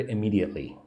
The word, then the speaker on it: immediately: Look at the word immediately. I me five syllables and the second syllable, right? One, two is the one that you need to emphasize immediately.